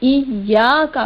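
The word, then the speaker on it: إياك: ایاکا میں یا پر زبر اور اس کے بعد الف ہے، یہاں الف مدہ ہے، یعنی ایا پڑھنے کے بعد ایاکا پڑھیں گے.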